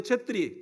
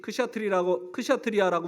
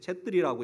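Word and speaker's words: Chhetri: 그래서 제일 높은 게 이제 이 브라만이고, 그 다음에 이제 쳇트리, 크샤트리아라고 우리가 배운 것인데 이게 이제 발음을 잘못하는 것이에요. 쳇트리라고 있고, 그 다음에 이 쳇트리 중에 왕족이 제일 높아요.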